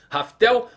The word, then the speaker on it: Laftel: Pois bem, não é bem Laftel o nome, não é esse nome que usamos durante todo esse tempo. Alguns utilizavam Raftel por conta da pronúncia do L que acaba virando R.